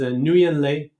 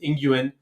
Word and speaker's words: Nguyen: His name is Nguyen Le. Some people pronounce it Nguyen.